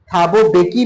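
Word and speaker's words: Mbeki: Again here is am silent. थाबो बेकी में एम है ना? मेबेकी मत कर दीजिएगा।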